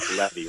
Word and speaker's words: Levy: Is it Levy? It's not Levy, is it? Yeah, you're pronouncing it correctly. All right, good. Levy. Rhymes with Chevy is what I usually do when I introduce myself to some people.